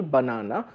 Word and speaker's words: banana: Suppose the word banana has an accent on the second syllable, banana, b is smaller, nana is bigger.